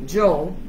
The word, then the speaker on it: yo: Yo, Joe, because the Y is Joe.